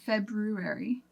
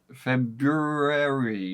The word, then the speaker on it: February: it's the word February because it has an r in there February February how long did you misspell this word School lot a lot 10th grade but I don't know anybody who says February on purpose like February in all seriousness most